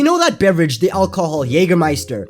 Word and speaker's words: Jägermeister: Very similar to how, you know that beverage, the alcohol, Jägermeister? It's spelt with a J, but it's pronounced with a Y.